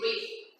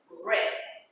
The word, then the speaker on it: read: In past, well, in this case, the writing is the same, but the pronunciation is different. In present, we say read. In past, read, like the color.